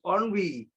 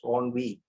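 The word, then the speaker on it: ennui: I think it is pronounced onvi. Uh not there's another word called nv y. That's envi. I think this word e n ui I I have a feeling that it is pronounced as onvi.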